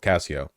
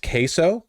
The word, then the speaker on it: queso: though so by default Casio he seems cool it's pronounced queso queso okay all right I guess I figured that if it was pronounced that way there'd be a q somewhere in there but okay all right